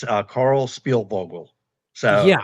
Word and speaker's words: Spielvogel: It's uh Carl Spielbogle.